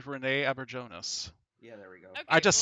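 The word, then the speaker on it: René Auberjonois: I'm so not going to be able to pronounce his name right because I always confuse it with Renee Onjua or something like No, that. it's Yeah, Renee. but It's Renee Aberjonas.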